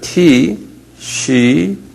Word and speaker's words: Tishri: 티시리.